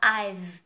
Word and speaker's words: I've: So, giống như là mình đọc từ 5, số 5 á, nhưng bây giờ mình không đọc cái âm ở đầu nữa, mình chỉ đọc là I've thôi.